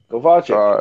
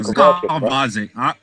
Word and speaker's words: Gvozdyk: Gvozdyk. That's his name. Gvozdyk.